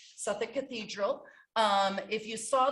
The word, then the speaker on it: Southwark: cathedral it looks like southwark it is actually pronounced suffolk suffolk cathedral um if you saw the picture of